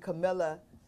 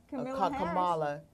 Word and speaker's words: Kamala: I'm so excited about, again, we said last week, Camilla Harris. Is it Camilla? Kamala Harris. Kamala Harris. I think that's how you pronounce her name.